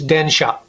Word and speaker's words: densha: Bus is busse, and train is densha.